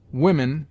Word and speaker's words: Women: Women is pronounced W-I-M-E-N.